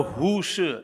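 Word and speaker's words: Hu Shih: Hu Shi, H-U-S-H-I-H. Shi is pronounced, spelled that way, I don't know why.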